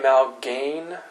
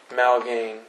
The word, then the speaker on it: Malgaigne: What is a Malgaigne fracture? Spelled with a G.